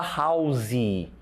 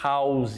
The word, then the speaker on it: house: A gente fala house. Olha só como a gente prolonga o som house. E a pronúncia correta é house.